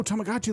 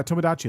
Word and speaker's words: Tomodachi: That's cool to Oh, Tomagi life. Yeah, Tomodachi life. Sorry, I'm saying it wrong.